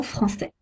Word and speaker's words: français: Un C cédille se prononce S, comme la lettre S. Sa, so, su. Exemple, un garçon français.